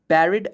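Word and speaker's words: buried: There are rich treasures बैरिड under them. इसको बैरिड पढ़ते हैं, बरीड भी पढ़ते हैं, लेकिन बैरिड ज़्यादा पॉपुलर प्रोनाउंसिएशन।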